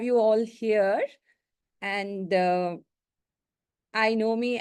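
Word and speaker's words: INOMI: all here and uh I know me as you know it stands for or I know myself I stress that it's spelled as i n o m i I know myself and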